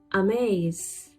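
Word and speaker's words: Hermès: Amaze. Amaze. H is silent here.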